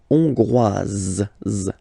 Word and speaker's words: hongroise: Okay, hongrois, grois, hongroise. Okay, so here final S not pronounced for the masculine form, and then you pronounce it here for the feminine form.